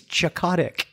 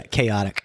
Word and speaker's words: chaotic: like yeah this is a great character he's chotic chotic yeah chaotic oh it's you know those things when you